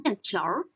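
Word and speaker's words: 面条: Dan 面条 ini ada beberapa cara baca. Mungkin teman-teman ada yang pernah ketemu orang bacanya dalam 面条. 面条. Jadi, jika ada R, ada di belakangnya, itu juga boleh.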